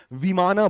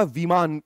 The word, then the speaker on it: विमान: विमान, which is phonetically pronounced as विमाना, otherwise there is no such term called विमाना। विमान होता है, विमाना कुछ नहीं होता है। वो अंग्रेजी में, इंग्लिश में, फोनेटिक्स में उसको विमाना कर दिया गया है।